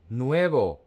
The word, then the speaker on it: nuevo: Nuevo, new. Pay attention to the diphthong, nuevo.